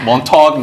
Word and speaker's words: Montaigne: Montagne, as it's pronounced, business.